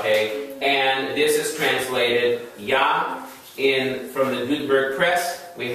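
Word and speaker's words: יה: and this is translated Yah. From the Gutenberg Press, we have this spelling. Looks like Jah. Sounds like Jamaican reference to God, right? Jah. But the Germans pronounce the J as a Y, just like they the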